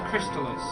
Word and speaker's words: Crystalis: quite amazingly Timothy Cruz del $10 it is pronounced Crystalis luring me day we still walking people actually